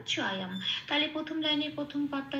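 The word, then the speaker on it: चायं: শব্দের শেষে অনুস্বর থাকলে সেটা ময় হসন্ত দিয়ে প্রতিস্থাপিত হয়ে যায়। এই অনুস্বরটা ময় হসন্ত দিয়ে প্রতিস্থাপিত হয়ে অন্তঃস্থয়ের সাথে জুড়ে উচ্চারিত হবে অম। তাহলে শব্দটা পেলাম চয়ম।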